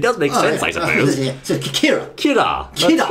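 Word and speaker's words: キラー: called k k k it sound like a Michael Jackson kir now the enemy called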